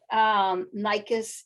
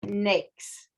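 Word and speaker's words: NAICS: next codes and pse codes so it is pronounced snakes it's not nice it's not nike it's it is nakes so that's the proper pronunciation for that and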